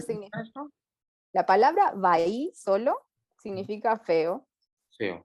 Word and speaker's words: bahí: Entonces, por ejemplo, hay una palabra que es bahí, bahí. Ujú. Se escribe B corta A, I, B corta o V. B corta decimos en Sudamérica, sería V, Ok, A, I, sería bahí, bahí.